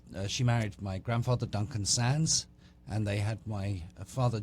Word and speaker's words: Sandys: and I I CRA I stupidly corrected her and said it's actually pronounced Sans and she thought I